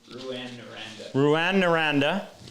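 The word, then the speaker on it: Rouyn-Noranda: jared was drafted by i can never pronounce it new and right say it again ruan naranda which is a city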